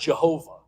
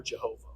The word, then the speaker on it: Jehovah: You may hear it pronounced Jehovah. So depending on, we've lost how you pronounce it, but it's either Yahweh or Jehovah.